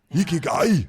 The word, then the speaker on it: Ikigai: And that's going to make the biggest difference in achieving, experiencing, and realizing this concept of Ikigai. Ikigai.